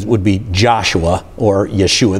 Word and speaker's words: Yeshua: But in the Hebrew, his name would be Joshua or Yeshua. They don't pronounce the J.